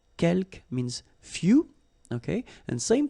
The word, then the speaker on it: quelques: Quelques, you don't pronounce the final S here. Quelques means few, okay?